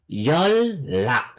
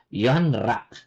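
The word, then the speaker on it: 연락: Lil na lock so yol lck not yon rck yol lck yol lock Anong ibig sabihin ng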